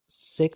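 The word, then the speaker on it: sake: फॉर the heart warming drink called सेक was very expensive, क्योंकि जो सेक थी वो बहुत ज़्यादा महंगी थी. अच्छा, इसको कुछ लोग इसको साके भी प्रोनाउंस करते हैं. दोनों प्रचलन में है.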